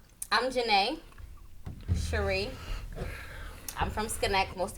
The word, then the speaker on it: Juné: It's not June. It's not June. I got the accent over the E.